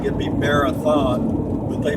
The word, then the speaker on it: Marathon: certain time near Fort Stockton foreign Texas it's spelled m-a-r -a-t-h-o-n sounds like it'd be Marathon but they pronounce it out here they pronounce it Marathon Marathon but anyway uh it's been a good